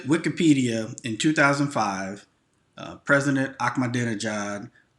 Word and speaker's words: Ahmadinejad: it was the guy who ran the country of iran his name was mahmoud ahmadinejad and you can pronounce that ahmadinejad i can remember but mahmoud i struggled with mahmoud ahmadinejad um he